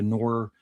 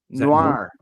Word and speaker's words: noir: Bit more of a noir How do you say that, noir? Noir. Noir. Thriller than a superhero film. You got to drag it out, noir.